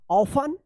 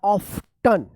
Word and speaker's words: often: इसका दो उच्चारण है, एक तो ऑफन। क्या पढ़ेंगे? ऑफन या ऑफ्टन, ये दोनों उच्चारण करते हैं लोग, लेकिन सबसे ज्यादा जो अभी उच्चारण हो रहा है वो ये हो रहा है ऑफन।